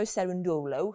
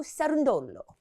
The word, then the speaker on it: Cerundolo: I was interviewing Francisco Cerundolo, who is the Well, you pronounced that well. Francisco Cerundolo.